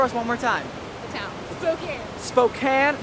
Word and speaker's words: Spokane: good we must show our new friend wait pronounce it for us one more time okay Spokane not Spokane not some of you guys back home can